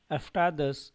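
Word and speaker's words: अष्टादश: 14 के लिए हो जाएगा चतुर्दश 15 के लिए पंचदश 16 सोडस 17 सप्तश 18 अष्टाद यहां ध्यान देना है अष्ट नहीं है अष्टा है अष्टाद 10 19 के लिए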